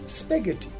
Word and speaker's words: spaghetti: word and it is pronounced as spaghetti in spaghetti the word h is again silent we have another word